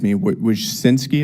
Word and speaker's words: Wojcicki: Miss Wojcicki, is that how you pronounce it? Yes, Wojcicki.